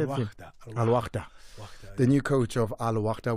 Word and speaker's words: Al-Wahda: Coach, how do you say? Is it Al-Wahda? Al-Ahli? How do you say Al-Wahda. It? Al-Wahda.